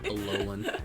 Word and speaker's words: Alolan: Alolan. Alolan ones, yeah. I think that it's like really pretty. So also I just like foxes, so yeah. You know what's so funny? What? Both Mimikyu and Alolan, Vulpix, and Ninetales are fairy types.